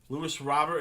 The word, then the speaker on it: Luis Robert: or the Casey - Luis robber is how I'll pronounce it from that LAN dude I didn't know that was the case if I knew I would have just said it that way the whole time there's a you so